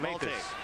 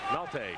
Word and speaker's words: Maltais: How do you pronounce that? Maltais. Maltais.